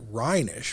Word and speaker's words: Reynish: I might have the name recognition, but remember my name is pronounced rhinish, but it's spelled Rainish.